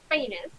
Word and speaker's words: Phanes: Okay, so Ciala or Ciala Lassa Phanes. See all the S of Phanes if you're wondering how to remember how to pronounce that.